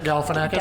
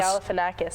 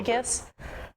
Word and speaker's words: Galifianakis: Zach Galifianakis? Galifianakis. I always say it opposite, like from The Hangover. Gallinaficus or something.